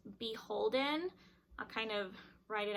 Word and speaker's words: BHLDN: let me know that the brand is actually pronounced beholden i'll kind of write it out in quotations on the screen so the brand is actually pronounced beholden it and it is